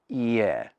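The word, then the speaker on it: いいえ: And he said to use the word ie, pronounced like this. Ie.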